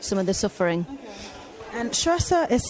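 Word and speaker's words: Saoirse: you can alleviate some of the suffering and truster is spelled s-a-o-i-r-s-e yeah thank you very much thank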